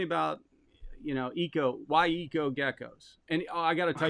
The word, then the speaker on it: Eco Gecko's: half suggested to um take out the h and it would still be the same so without even thinking we took out the h and we still pronounce the echo geckos also i'm saying it right eco geckos so which is it it's eco geckos it is now yes